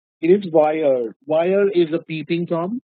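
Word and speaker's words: voyeur: Tom all of us know peeping Tom the pronunciation of this word is wire it is not war it is wire wire is a Peeping from right and V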